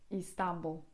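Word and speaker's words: İstanbul: być z kropką, dlatego w języku tureckim Istanbul właśnie pisze się z kropką nad tym I pierwszym. Istanbul.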